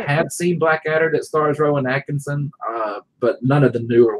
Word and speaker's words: Rowan Atkinson: Oh, that's Rowan Atkinson. Or correct my pronunciation, Stephen.